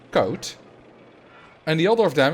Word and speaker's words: Koot: Now, Koot is spelled K-O-O-T. Koet is spelled K-O-E-T. But an English person, or English speaking person, would pronounce those the other way around. Because K-O-O-T, which is Koot here, becomes Koet in English. And K-O-E-T, which is Koet here, becomes Koot in English.